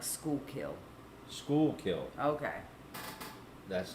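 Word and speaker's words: Schuylkill: Rose says it's pronounced like school kill.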